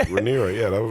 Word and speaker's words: Rhaenyra: I think that I'm pronouncing all these words wrong. But no, that's right. Rhaenyra, yeah, that was right.